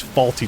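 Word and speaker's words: Fawlty: each time yeah so the hotel is named faulty towers it's spelled f-a-w-l-t-y that's their last name and of course that's funny because faulty towers uh but every time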